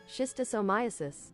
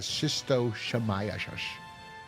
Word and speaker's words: schistosomiasis: Schistosomiasis. Schistosomiasis. So she says he's got schistosomiasis. How you pronounce that again?